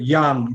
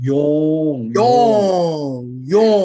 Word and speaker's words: Yong: Dr. Yong, not Yang. Yong.